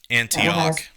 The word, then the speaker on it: Antioch: got on the, and I'm probably going to mispronounce it. Is it Antioch? Antioch.